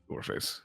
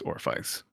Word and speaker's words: Orpheus: It's just, it's not pronounced Orpheus. It's Orpheus.